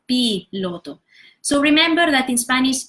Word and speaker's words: piloto: pilot in Spanish so I've seen some people they tend to pronounce this I as in English I so they say buy lotto instead of p lotto so remember that in